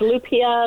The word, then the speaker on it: Lupia: we yes we're not worried about it it's Lupia Lupia whatever okay I just don't like getting people's names wrong so Lupia who is the executive director of Mama's house